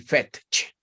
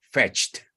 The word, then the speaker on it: fetched: Así que no me vayan a decir fetch, ¿ok? Simplemente es fetched.